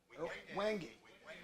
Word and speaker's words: wenge: No, actually, how do you pronounce it? Wengie or wenge? Wengie.